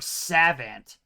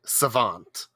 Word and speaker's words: savant: justin's first language because he constantly emphasizes the first syllable instead of the second in words which is very strange to me sure you said pre-face and then you said or savant i don't know if that's i don't know if i'm saying the word right i mean you weren't it's preface and savant all right we select